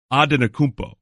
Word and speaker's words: Antetokounmpo: Not aunt. Aunt. It's like auntie or auntie. It's actually, you don't even pronounce the N. It's Antetokounmpo.